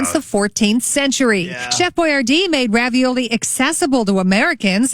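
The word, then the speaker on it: Boiardi: Spelled differently, but pronounced the same way, I believe. Let's see. Etiar Boyardee. Yep, Boyardee. B-O-I-A-R-D-I.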